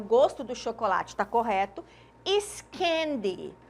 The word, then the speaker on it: gosto: que aqui eu tenho duas palavras que são escritas da mesma forma mas que T pronúncias diferentes em língua portuguesa o gosto som fechado e gosto som aberto substantivo e aqui é